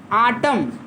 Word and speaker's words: autumn: Visit during आटम, AUTUMN, आटम miss होता है शरद, शरद ऋतु। आटम और स्प्रिंग, AUTUMN, यन साइलेंट रहेगा, जैसे कॉलम में यमन रहता है।